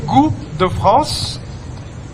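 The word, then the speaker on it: Goût de France: sa pagluluto good France in French it's actually go the France literally that means taste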